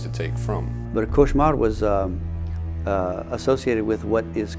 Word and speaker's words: cauchemar: Cauchemar, all cauchemar means is nightmare. It's a French word for nightmare. And there was, it's pronounced variantly in Louisiana, couche mal, which means to sleep poorly, which you could see